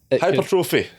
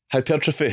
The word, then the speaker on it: hypertrophy: Bro, you could not name half the stuff that hypertrophy. You pronounced it wrong and everything. Hypertrophy. Yeah, there you go.